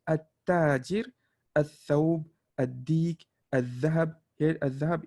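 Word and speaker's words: التاجر: See, we have to pronounce all of the al, which is the completely opposite with the second column, which is you completely ignore the alif, the lam, right? You say at-tajir, al-thawb, ad-dik, al-dhahab.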